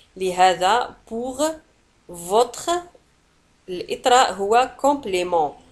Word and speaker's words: compliment: الإطراء هو compliment. ولاحظوا على أن compliment تنتهي بالت ولا تنطق.